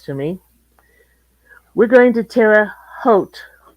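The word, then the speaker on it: Terre Haute: me we're going to tear a h tomorrow doesn't mean I'll ever be able to pronounce it correctly well it's like oat with an H in front although some people have been known to call it Tera Hut locally um for some reason I've always pronounced it as if it had an au in the middle I have never heard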